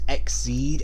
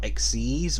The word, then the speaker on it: Exceed: species are called exceed granted it's pronounced exceed and not exes but still does sound